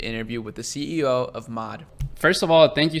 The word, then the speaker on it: Maude: pronounce the brand right no it's mod just mod okay that's that's much